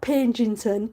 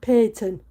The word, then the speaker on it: Payton: See Payton. Payton. Not Pentington. Payton. Just take out the bloody G.